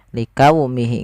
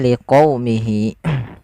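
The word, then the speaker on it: لقومه: Jangan diganti dengan huruf kaf. Liqaumihi enggak, tapi liqaumihi. Yaitu di sini kita untuk menyempurnakan dari fathah bertemu dengan huruf waw. Dan agar sempurna dalam pelafalan wawnya kita monyongkan sedikit.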